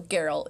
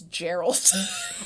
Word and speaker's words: Geralt: series and you know geralt is spelt geralt yeah and we know how to say it now especially those video games but she's like i thought it was gerald oh 100 for a